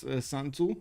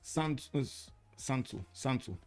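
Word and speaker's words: Sun Tzu: You mean I need to pronounce it Sanzu? Okay, I guess. I don't know why I pronounce it soon. Okay, I can explain. It's because I pronounce it half in Romania. I'm sorry. Sun is pronounced Sun in Romanian.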